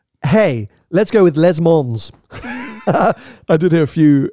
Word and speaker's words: Le Mans: how do you say Lamar and you don't pronounce the mo the S at the end it's hey let's go with les Mons I did hear a few Americans and bless